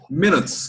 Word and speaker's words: minutes: Em inglês, você pronuncia como se fosse o som do E. Em vez de falar minutes, é minutes, como se fosse com E.